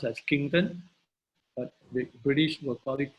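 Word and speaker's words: Quinton: by the unique it's a French man it's pronounced as kington but the British were product Quintin well we call it Quintin so we live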